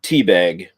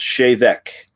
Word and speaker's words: Te Bheag: this joke reviewing this whiskey but it reads teabag does it not yes it does if you look just if you're just looking at it but it is actually pronounced shave Eck and that's about where the proper pronunciation and